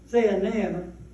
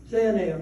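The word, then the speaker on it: Zaanaim: look that up and don't remember how to pronounce it zanam zanam that's it which is bish and they showed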